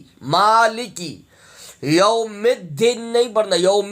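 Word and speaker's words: مالك: میں نے بزرگوں سے ملکی، یہ بھی غلط ہے، یہ بھی غلط ہے، یہ مالکی ہے، مالکے بھی نہیں پڑھنا، ملکی بھی نہیں پڑھنا۔ جو صحیح ہے اس ادائیگی ہے تلفظ کی، مالکی۔ یوم الدین نہیں پڑھنا،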